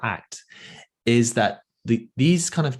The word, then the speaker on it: ACT: it interesting but act act is pronounced act it stands for acceptance